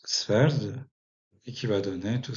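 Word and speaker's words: sweord: Et Swerdanis, donc, va donner, par exemple, en vieil anglais, on va avoir Sveord, qui se prononce Sverd, et qui va donner tout simplement l'anglais d'aujourd'hui.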